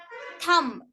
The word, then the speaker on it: thumb: for silent letter b letter B is silent after M at the end of a word example climb dumb dumb limb thumb we won't pronounce it